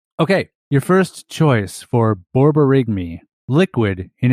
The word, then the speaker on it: borborygmi: Borborygmi. Nailed it. Or Borborygmi. Maybe. We'll see. Borborygmi. The phonetic spelling had the first initial as BAWR, like bar, Borygmi, and then the end was MAYH or something weird.